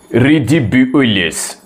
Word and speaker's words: ridiculous: It is ridiculous. Ridiculous. I'm sorry, that's a wrong pronunciation. The correct pronunciation is ridiculous.